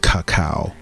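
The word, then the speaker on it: cacao: inhibition because this this some people pronounce it kaca and I've gotten feedback but I still say Coco increases serotonin levels which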